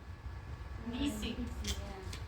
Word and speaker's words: Nissi: Now, we have the nun and the kirik. That's where we get the ni from. Right? Okay. But we also have this samek with this dagesh in. So what we need to do is take that single letter and we're going to turn it into two of them.